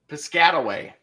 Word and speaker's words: Piscataway: yeah how how do you say that City Piscataway Piscataway oh yeah Piscataway they gonna go that